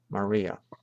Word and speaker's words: Maria: the other form maram the Greek accent is on the last syllable maram while the Latin accent is on the next last syllable Maria in both languages the relationship